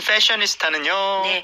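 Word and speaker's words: fashionista: 마지막 거 자 다음은 패셔니스타는네 이거는 F 발음 명확히 해주셔야 돼요 스 아 자이 그냥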